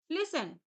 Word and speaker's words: listen: लिसन, जिसका मतलब होता है सुनना। LISTEN, यहाँ पर टी है लेकिन टी साइलेंट रहता है, तो कैसे प्रोनाउंस करेंगे? लिसन।